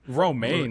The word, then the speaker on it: Romijn: Romaine, like the No, lettuce. Yeah, it is like the lettuce.